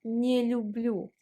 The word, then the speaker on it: не люблю: And you can say, если честно, я не люблю готовить. Если честно, если честно, to be honest, я не люблю, we pronounce не and люблю like one word. Не люблю.